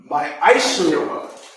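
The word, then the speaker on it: מעשר: And it's pronounced my Aishara.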